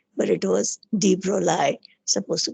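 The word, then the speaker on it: de Broglie: is han tella you had d we always pronounced d broccoli but it was d broly supposed to call it him call him as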